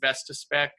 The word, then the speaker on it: Vestaspec: We've all come together, and we're starting to create a report writing software called Vestaspec. And how do you spell that?